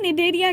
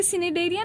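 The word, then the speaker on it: Cnidaria: निडेरिया में भी देखो सी साइलेंट है, तो सी देख के सिनेडेरिया नहीं कर देना।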